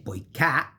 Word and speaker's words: poiché: And you say poiché, which is very open, you say poiché.